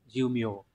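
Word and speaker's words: 寿命: trong từ mê đê, nhưng mà riêng trong từ thọ mệnh này lại đọc là miều, diêu miều.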